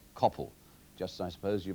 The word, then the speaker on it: Coppell: in fact it should not be Copple but Coppell as in hell all I can say to